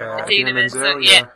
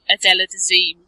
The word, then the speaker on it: Idina Menzel: Because I've read that John Travolta pronounced. I'm going to say her name right. Idina Menzel's name. Idina Menzel.